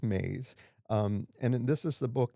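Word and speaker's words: Myss: have read named Caroline Maize and it's actually my SS but I heard Oprah pronounce it so I think it's Maze.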